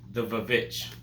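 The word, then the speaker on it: The VVitch: My next pick is The Witch, or The Vavitch, as it's pronounced. I don't know.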